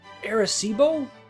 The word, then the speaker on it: Arecibo: In 1974, the Arecibo message, I'm pretty sure that's how it's pronounced, was broadcast from the Arecibo radio telescope in Puerto Rico.